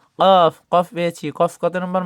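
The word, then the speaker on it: ك: আর calf, calf কত নম্বর মাখরাজ? Calf হলো 5 নম্বর মাখরাজ। Calf জিহ্বার গোড়া থেকে একটু আগে বাড়িয়ে উচ্চারণ করতে হবে।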